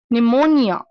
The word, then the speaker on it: pneumonia: psychiatrist next one is pneumonia pneumonia is one lf1 is in illness called pneumonia again P is silent next these are the